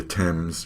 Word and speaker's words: Thames: pronunciations that are irregular gains and names are pronounced just as anyone might expect but listen we say the Thames river in England we say although but we